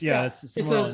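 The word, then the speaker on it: Sermorelin: That's Samoralin.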